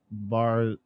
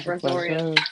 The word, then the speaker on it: Brazoria: We have Barzolia. Is that how you say that? Barzoria. Sorry, guys. Brazoria County. I know it's a county. I just want to make sure I was saying it right. Yeah, Brazoria.